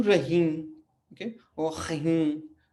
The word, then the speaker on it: Rahim: उ तेलेमोवेल दु रहीम, ओके, और खहीम.